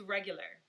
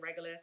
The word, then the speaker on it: Regula: So regular is just exactly how it sounds. It's regular. That's how we say it here in the DMV. We pronounce it regular.